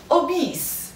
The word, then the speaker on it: obese: Obese. Obese. بچه obese American English. Obese تلفظ میشه.